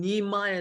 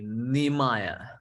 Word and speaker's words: Nehemiah: starting nehemiah today nehemiah that's how you pronounce it in english i heard people say nehemiah but it's nehemiah in english nehemiah nehemiah was was